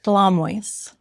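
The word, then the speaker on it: Shlameus: Schlamoys.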